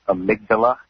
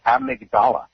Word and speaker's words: amygdala: I know she's a nurse, but it's pronounced amygdala in the brain.